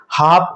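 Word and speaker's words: half: तो यहां पर हमने दे दिया हाफ देखो एफ आ रहा है तो एल साइलेंट हो गया।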